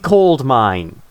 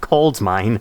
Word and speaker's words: coal: Not cold mine. I don't know why whenever I say coal I want to I I always want to pronounce the D to make it cold.